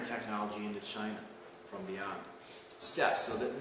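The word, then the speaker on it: steppe: into china from beyond steps so that notice how step is spelled we believe two peas in an east we're not talking about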